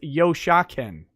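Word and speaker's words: Yoshken: won't also nick somehow you keep getting my name wrong it's yoshaken oh well that's because there's no a really it's just y-o-s-h-k-e-n nick you know what's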